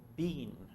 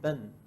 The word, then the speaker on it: been: Entonces, esta palabra no la pronuncies como been. Es más como un ben. Relajado, un poquito más a una E. No es completamente de ben, no. Es ben. Imagínate que también enfatizas más la N.